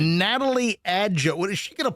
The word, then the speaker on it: Adjo: Yeah, so her name is Natalie Adjo. A-D-J-O. How else would you pronounce that?